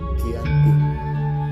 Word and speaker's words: Giyanti: yakni di desa cantik dalam pelafalan Belanda ia tersebut sebagai Ian tipu dan Hai tertulis ia dibaca sebagai Giyanti di tempat tersebut sekarang dikenal